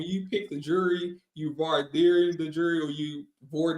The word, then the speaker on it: voir dire: Am I pronouncing it properly? Yeah, voir dire. Some people call it voir dire.